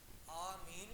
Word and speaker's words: آمین: یہ دو طرح روایتیں ملتی ہیں اور دونوں طرح مستعمل ہیں، آمین بھی اور امین بھی.